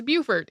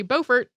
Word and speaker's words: Beaufort: Carolina for some reason it is Beaufort even though most of these places that most other people say Beaufort are named after the same person who pronounced it Beaufort I have no explanation for why this pronunciation in South Carolina is different uh also unknown actually